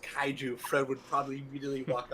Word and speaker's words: kaiju: out and you know the way i learned it kaiju was like kyle from south park and he's a jew that's how i learned how to say it that i just knew